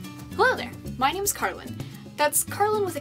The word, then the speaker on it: Karlin: It's also Karlin with an N at the end, you know, Karlin. Just don't overpronounce the N because I had someone do that once, drove me up the wall. It's not a silent N.